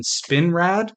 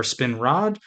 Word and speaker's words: Spinrad: This episode is written by a gentleman named Norman Spinrad or Spinrod, depending on how you pronounce it, and directed by our